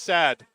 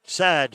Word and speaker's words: Saad: And Darren Wilson, Saad's name, S-A-A-D, it's pronounced Sad. Sad, thank you very much.